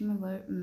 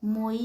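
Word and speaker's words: moi: इसका इंग्लिश में वर्ड मतलब होता है मी। तो इसको हम मोई नहीं पढ़ेंगे इसको हम पढ़ेंगे मवा क्योंकि ओ आई की साउंड होती है व तो इसको हम क्या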